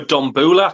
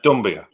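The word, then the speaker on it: Doumbia: I've spelled it wrong, but I've gone for Dombula. I don't know if that's how you say it. No, that was Rafa. Oh, Dumbia.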